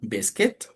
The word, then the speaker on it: biscuit: La pronunciación como si no hubiera esa U, biscuit.